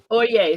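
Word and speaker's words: Øye: Oye, thank you. If it's pronounced like they use it in the legal profession, it's Oye.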